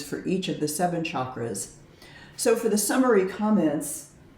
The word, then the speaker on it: chakra: But chakra with a hard ch like chair is closer to the Sanskrit pronunciation.